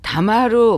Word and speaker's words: 黙る: 자, 다마루, 목스르, 모다스 다 침묵하다로 통일해서 대표적인 뜻을 기억을 해주시면 좋겠어요. 같은 한자지만 발음이 이렇게 다릅니다.